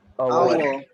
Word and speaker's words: hour: Our. Is R. Which letter is silent here? H. H is silent, so you should not pronounce it hour.